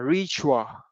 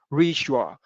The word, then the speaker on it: ritual: Đấy, cái từ này chúng ta sẽ đọc là ritual. Đấy, như mọi người thấy ở đây có âm sh, ritual.